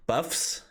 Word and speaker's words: Buffs: Buffs, as in I'm buff, and Nerf, as in like the gun that shoots like foam bullets, right? Buffs and Nerfs.